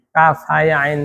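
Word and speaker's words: كهيعص: yang kemarin mau nyobaan kaf haya ain shad kaf ha ya ain Iya, kurang sedikit sih ainnya itu dipanjangin lagi terus kemudian jangan jangan jangan ada berhenti.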